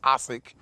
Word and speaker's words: Asik: I believe the correct pronunciation is Asik.